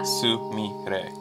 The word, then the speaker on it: Sumire: So in Japanese, is it with three syllables? Sumire? Yeah. Sumire.